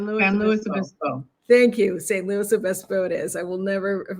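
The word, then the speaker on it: San Luis Obispo: say that St Louis St louiso thank you St Louis Obispo it is I will never never forget that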